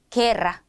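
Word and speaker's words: guerra: 우이가 오는 경우가 있습니다 우리 배운 대로 읽어 준다면이 단어는 구에 구이 이렇게 읽어 줘야 하는 겁니다 우리가 고대 말라 하고 읽었던 것처럼요 그런데 그냥 약속을 했어요 계기 라고 읽기로 개기 이렇게만 읽어 주셔야 합니다 그래서 게라 게라 이렇게 읽어야 하고 아길라 아길라라고 읽어야 하는 거예요 마지막으로 예외가 하나 더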